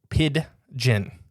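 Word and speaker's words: pidgin: can't say it right piden piden yeah with a there's a D in the middle right so it's like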